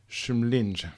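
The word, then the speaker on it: Kymlinge: built a station at a place called shumling spelled k-y-m-l-i-n-g-e so I hope I've pronounced it correctly my Swedish is not up to date and that was disservice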